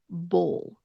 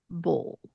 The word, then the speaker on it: bowl: Another word that has that dark L sound, bowl, bowl, bowl. That is a very difficult word because it has that W in the spelling, but ignore really that W sound.